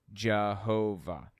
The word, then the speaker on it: Jehovah: a superstition about it and passing through Germanic regions y's are pronounced like J's W's pronounced like V's you end up with the name Jehovah so that's where the